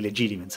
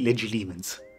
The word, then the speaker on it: Legilimens: Sarai pure una brava occlumante, ma qui ci sono dei bravi legitimens, eh? Oppure, come si dice ormai, legilimens.